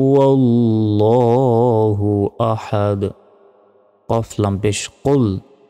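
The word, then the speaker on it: قُلْ: আহাদ কফ লাম পেশ কুল এখানে মোটাভাবে উচ্চারণ হবে কুল আমরা অনেকে বলি কুল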